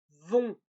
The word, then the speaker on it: vont: Attention, regardez bien comment ça s'écrit. Ça va? Donc le premier, c'est le O, vont.